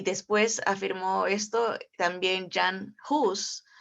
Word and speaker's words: Jan Hus: Y después afirmó esto también Jan Hus, o en español se pronunciaría Han Hus, porque la H no